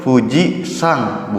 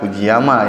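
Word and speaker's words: 富士山: untuk secara keseluruhan itu menunjukkan 6a gunungnya itu dibacanya gunung Hai Puji itu Fuji sang bukan uji ama yang namanya watashiwa fujisaki eh Iki Mas saya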